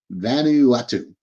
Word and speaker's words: Vanuatu: looped in there was the one I can't pronounce Van yeah vanu now vanu Vanuatu Vanuatu sorry folks yeah they're they're increasingly aligned